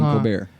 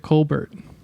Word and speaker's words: Colbert: Did he pronounce it Colbert, or was it Colbert? So, it was Colbert. Okay. But then once we found out who his brother was, I called him Colbert.